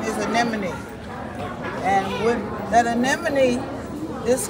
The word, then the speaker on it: anemone: The correct pronunciation is anemone.